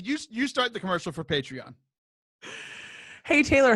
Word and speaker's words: Patreon: Liv, you start the commercial for Patreon. Hey, Taylor, how do you say that word that looks like patron, but it's like Patreon?